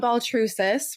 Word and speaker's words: Baltrusis: Welcome in, Baltrusis, right?